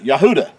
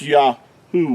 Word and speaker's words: Yahudah: here okay yeah hmm da is how you would pronounce the tribe of juda yahudah now if you were